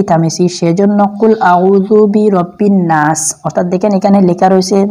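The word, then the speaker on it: النَّاس: দেখেন এখানে লেখা রয়েছে নুন নুন আলিফ জবর নাসিন জের সি অর্থাৎ নাসি উচ্চারণ কি হবে অবশ্যই আপনারা জানেন যে নাসি হবে তো এখানে আমি নাস কেন পড়েছি একটা প্রশ্ন আসতে পারে দেখেন আমি এখানে যে অফকো করেছি অর্থাৎ আমি স্টপ করেছি থেমেছি ওই থামার জন্য আপনি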